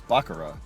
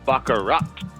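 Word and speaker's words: baccarat: is bakara but you're saying it wrong bakarat there's a key at the end bakarat uh John you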